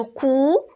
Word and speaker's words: couds: les personnes de conjugaison, mais pour les trois personnes du singulier, le D ne se prononce pas. Par contre, pour les trois personnes du pluriel, le D se prononce.